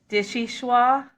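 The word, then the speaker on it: vichyssoise: Dishwah. It's pronounced or it's spelled v i c h y ss o i s e.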